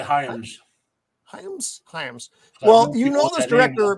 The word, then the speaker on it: Hyams: Hyams.